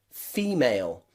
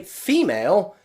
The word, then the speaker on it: female: a stressed syllable so take a look at the word female female okay female the stressed syllable is the first part of that word fee and you can see the letter e there that's the stressed part e so often in many words in english when the e is the stressed part we pronounce it e take a look at